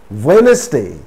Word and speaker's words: Wednesday: not sand witch sandwich wednesday it's not wednesday wednesday so in these words also